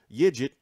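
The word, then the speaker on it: Yiğit: now now they're saying we just heard that digit is how you pronounce his name you know that I'm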